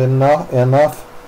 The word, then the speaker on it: enough: center the F sound enough GH it's spelled GH but it's pronounced f as soon as I